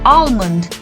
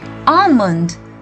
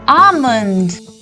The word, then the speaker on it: almond: we pronounce this as almond but here we have to mute the L and we say almond say it once more almond friends before we